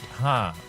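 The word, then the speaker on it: ห้า: The uh number five is pronounced ha. So you would type 555 to go haha basically all the different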